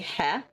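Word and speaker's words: へ: Um well, it is technically he a lot of the times you don't pronounce the H and you just say E.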